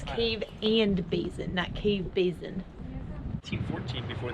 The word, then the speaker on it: Cave and Basin: a mystery DJ yeah we've been saying it wrong it's cave and basin that cave basin 214